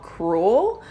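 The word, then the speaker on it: crewel: it's exposed this type of work is called cruel I'll put it on the screen it's spelled CR a wel if you ever see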